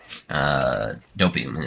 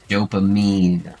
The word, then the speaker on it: dopamine: So I feel like I keep saying that word wrong now. I've never had a problem before, and then I said it wrong once on stream, and now I'm saying it wrong every single time. I'm becoming extremely self-conscious of that, and I gotta stop using it. Dopamine. That's what I'm thinking of. Dopamine hits, not dopium.